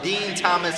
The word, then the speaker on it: Din Thomas: You can just type my name in, Dean Thomas. That's spelled DINTHOMAS.